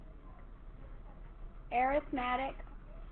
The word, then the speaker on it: arithmetic: So this is going to be arithmetic combinations of functions. Arithmetic? That's exactly right. How you pronounce that word depends on if it's a noun or a verb. That's why I didn't call it arithmetic.